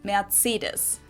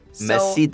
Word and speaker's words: Mercedes: most americans call this mercedes society german we pronounce it mercedes mercedes mercedes versus mercedes med cedars okay my accent